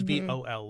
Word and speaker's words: Vaal: Even so, you would still think it would be Vaal or Val, but they pronounce it like it's V-O-L, like Vol.